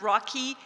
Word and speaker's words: ROC: overseas cultural interchange project known as ROC I pronounce rocky a named after his pet turtle the project took place